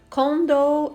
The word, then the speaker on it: condo: muito mal entendido é o condor eo condom com dou é condomínio e com dom é camisinha Cuidado para não dizer